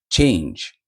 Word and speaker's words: change: Change це правильна вимова.